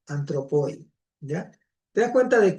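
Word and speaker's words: ἄνθρωποι: Se pronuncia hoy antropoi, ¿ya?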